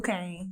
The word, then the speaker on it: Khang: Is that how you pronounce it? Yes, Khang.